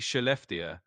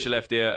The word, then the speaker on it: Skellefteå: You're pretty close on the pronunciation. It's basically Skellefteå in Swedish, which is kind of a mouthful, but you can think of it as Skellefteå.